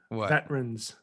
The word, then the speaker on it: veterans: you're disrespecting our veterans there's an extra syllable in there and you're trying to shorten the word veterans thank you okay put